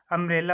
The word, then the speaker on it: umbrella: फिर ये भी यू से शुरू हो रही है, UMBRELLA, अम्ब्रेला हो जाएगा ये।